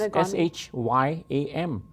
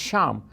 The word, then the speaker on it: Shyam: it is spelled is s-h-y-a-m and people look at it and say it should be shyam but no it's not it's sham and the reason is that